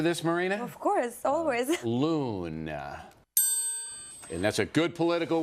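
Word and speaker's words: loen: Loon, which, I mean, I don't know exactly how do you pronounce it in Dutch. Right. But it's spelled L-O-E-N.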